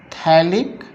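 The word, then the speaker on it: phthalic: Reaction of phenol with P silent होता है, थैलिक anhydride.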